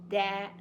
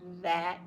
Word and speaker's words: that: they want to say that. Make sure you say that. Get your tongue out a little bit, that, when you say this word right here.